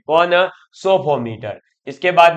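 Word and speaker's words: psophometer: मटर क्या आता है पोशो मटर या सोफो मटर कहा जाता है इसमें पी साइलेंट है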